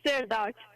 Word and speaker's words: Srdoc: pronouncing your name the right way for once sir did that get close yes it is it is Sir do but I don't mind I mean you pronounced it perfectly thank you so much for